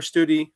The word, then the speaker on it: Studi: It was just definitely very heavily focused on well, West Study or Study, I don't know how you say his name. Yeah, I think it's a long U.